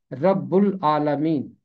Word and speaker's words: رب العالمین: इसका तलफ़ुज़ है रब्बुल आलमीन।